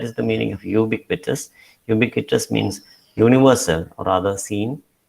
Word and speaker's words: ubiquitous: Ubiquitous means universal or rather seen everywhere. So you look at these, compare these two words, ubiquitous and UHHER. Both begin with U, but it is pronounced differently.